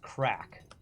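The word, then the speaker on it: craic: go do something else so you know it's pronounced crack the Irish love crack okay a great dinner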